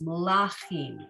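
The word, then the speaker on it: מלכים: So, and that's another reason why it makes sense that the emphasis isn't on the first syllable because that has no vowel there, right? So no, it's gonna bring us into the second one where we are gonna put our emphasis, malachim, okay?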